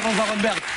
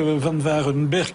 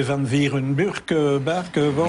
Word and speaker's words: Van Varenberg: Au fond, le début de ça, c'est que Van Varenberg était assez compliqué pour les Américains. Le A se prononce E, le E se prononce I, donc ça donnait des Van Varenberg, alors mais il a voulu une consonance belge.